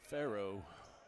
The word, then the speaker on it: Farrow: Farrow, like the Pharaoh, just not spelled the same.